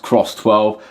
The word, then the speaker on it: CRSS12: I've been told it's pronounced Cross 12, and the reason why it's cross is because